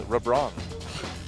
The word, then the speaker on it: LeBlanc: You know, if you want to pronounce LeBlanc as it's spelled in the Korean client, it's Rebrong. I'm not even kidding. That's how it is.